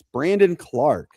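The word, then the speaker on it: Brandon Clarke: I said Brendan. It's Brandon Clark.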